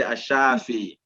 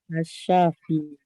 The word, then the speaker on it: Ash-Shaafiy: Let's say Ash-Shaafiy. Ash-Shafiy. Or if you want to pronounce.